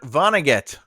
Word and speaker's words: Vonnegut: Kurt Vonnegut. I had it phonetically spelled out too, and it wasn't working.